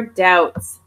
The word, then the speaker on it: doubt: So today we're going to focus on your doubts. Again, this B is not pronounced doubt.